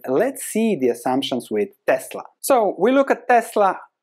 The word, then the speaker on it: Tesla: it is the pronunciation nikola tesla was born in croatia i grew up there so we are point on that it's tesla all right let's continue with